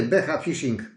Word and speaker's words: B Fishing: bodajże portugalska b Fishing pisze się b czyta się beh Fishing jest na internecie są